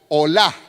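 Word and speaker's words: עולה: Entonces, holocausto en hebreo viene o se pronunciaría olá.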